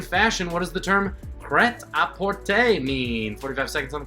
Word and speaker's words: prêt-à-porter: In fashion, what does the term prêt-à-porter mean? 45 seconds on the clock, starting now. In fashion, what does pret-a-porter mean? Pret-a-porter, not the correct pronunciation. Prêt-à-porter is much closer and more fun to say.